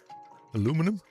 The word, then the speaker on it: aluminium: We Dutchies say aluminium, but I know it is pronounced, even spelled differently in English, but I'm not sure if it's American or also British.